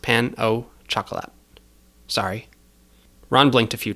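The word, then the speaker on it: pain au chocolat: It's just pronounced pan au chocolate.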